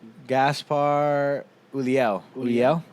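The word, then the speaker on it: Gaspard Ulliel: come on man bring that try harder to pronounce his name gaspard yulia let me see that's how you say it gaspar uliel julio um the recipe's him i get more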